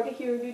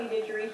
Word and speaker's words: didgeridoo: people of Australia, and it is called the didgeridoo or didgeridoo, just depending on who you ask. There are different pronunciations that you can use, and I actually have a didgeridoo here at my house with me.